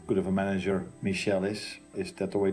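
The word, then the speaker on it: Míchel: probably means how how good of a manager Michelle is is that the way to pronounce it yeah um and and even this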